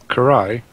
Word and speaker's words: Karai: Karai.